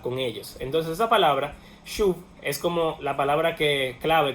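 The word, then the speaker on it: שׁוּב: Son palabras que en hebreo tienen la misma raíz. Se pronuncia shuv.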